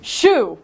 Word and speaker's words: choux: exactly what this show shoe like your shoe yeah all right basically